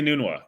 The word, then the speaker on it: Enunwa: The guy who led them in 2016, I don't remember how to pronounce his name because he lasted so short. Quincy Enunwa.